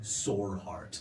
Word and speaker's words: Soarheart: If you read the note, it would say his name is Kivig Soarheart. Like soar like dinosaur, Saur.